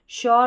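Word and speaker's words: sure: श्योर, अश्योर, क्योर ऐसे पढ़ना है, श्योर, अश्योर, क्योर।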